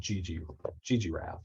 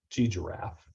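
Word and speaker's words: ggraph: the function is called GG Giraffe or Giraffe. I think you pronounce it like a giraffe, like giraffe.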